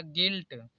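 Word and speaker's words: guilt: यहां पर भी देखिए जी य आई तो आई ल है इसलिए यू कॉमन हो तो इसे पढ़ जाएगा गिल्ट यहां पर भी देखिए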